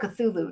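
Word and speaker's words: Cthulhu: manifests fears because Chu how do you say that cthulu not chulu cthulu I always want culu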